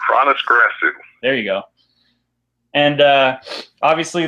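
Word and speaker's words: Hroniss Grasu: Gronru? Yeah, it's Chronis Grasu.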